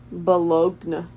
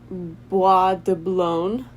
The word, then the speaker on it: Bois de Boulogne: Bologna. Boulogne. Bois de Boulogne Park.